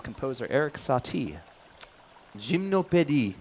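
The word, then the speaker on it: Gymnopédies: 31 across, the Gymnopedes composer Eric Satie. Gymnopédie, not gymnopedes.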